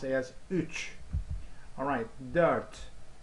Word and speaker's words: dört: Alright, dört. You know, there are two dots next to each other, you know, see here. Alright, so these make the pronunciation like dirt, dirt, dirt.